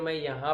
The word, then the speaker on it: Mayem: इट is spelled as MAYEM and pronounced as माया lake.